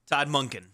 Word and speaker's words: Monken: Mac, somebody would say Monken's name wrong. Can we get a Monken? Todd Monken.